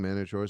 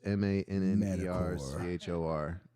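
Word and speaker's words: Männerchor: Yeah, I think Manator sounds about right. Or Manacor. It's Mannerchor. Beethoven Mannerchor.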